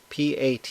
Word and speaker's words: PAT: I'll pronounce the acronym PAT as PAT.